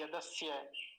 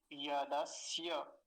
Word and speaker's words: यदस्य: जैसे उस दिन आशी ने बताया था, कुछ लोग इस यकार को पूरा नहीं बोल पाते, यदस्य स्य स्य ऐसा करके निकल जाते हैं जल्दी में। अब इसका पूरा उच्चारण क्या होगा? यदस्य, य, अंत में य का ध्यान रखना है विशेष रूप से।